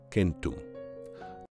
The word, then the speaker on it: centum: the West Europeans have stuck to the original pronunciations called kentum this East-West division of the Indo-European languages